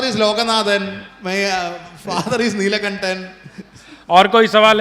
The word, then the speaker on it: Neelakantan: तो I congratulate your parents have actually kept your name Neelkantan. I will definitely pronounce Sir, it better. actually it is Neelakantan is my father's name.